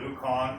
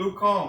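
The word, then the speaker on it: ウコン: It's actually pronounced like ice cream cone. I called it ukon for years till I went to Japan. They said, no, it's called ukon, like an ice cream cone.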